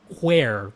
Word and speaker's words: Where: W-E-A-R because it's fabric, but no, it's Where, W-H-E-R-E. So Art of I like how you Wear. pronounced the H when you did that just then. That was weird. Well, just to, because we're a podcast, people can't see what I'm talking about. You're They can about only to hear it. spell it. You do not have to try to pronounce the H.